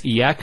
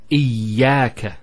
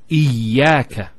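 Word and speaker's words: إياك: Iyaka. Notice the ya gets a double vowel because of the shadda there. Iyaka.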